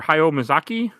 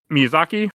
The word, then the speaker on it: Miyazaki: Princess Manoke directed by Hio or Hayomaki. I pronounced that wrong, didn't I? Yep. And written by Hayo Mazaki. Mazaki. And then came out Miyazaki. Yep. There you go.